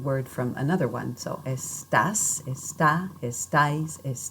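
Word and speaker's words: estás: from another one so estas is tough as dice is done make sure that when you speak you are putting the stress firmly on that last syllable and that will help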